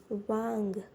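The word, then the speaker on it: 왕: First of all, it's wa. And then at the ending, it's yang. Wang. It would be wang. And I know you guys would be confused with the combined syllable, combined vowel.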